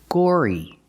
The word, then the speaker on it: gory: and violence that's gory use the or sound like door and floor Gore plus the long e gory you're fascinated by the